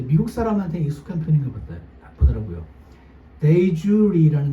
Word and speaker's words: de jure: 데이주리라는 거 들어보셨나요 혹시? 영어로 D-E, 대. 그 다음에 한 칸 띄우고 J-U-R-E. 그래서 데이, 발음은 브런치, 데이주리 이렇게 읽어요.